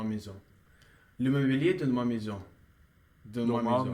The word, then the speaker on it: maison: So you remember that we pronounce it like a, this combination of letters, right? So we say Maison.